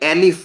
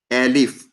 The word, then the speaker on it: elif: remember, you need to pronounce it like elif now onwards. Combination of else and if together. You need to call it as a elif.